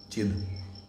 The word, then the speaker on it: चिद: सत चित्त नहीं, चिद। ठीक है? आनंद। चित्त अगर बोलते तो छोटा होगा, नहीं तो उसको द उच्चारण करना, चिद आनंद।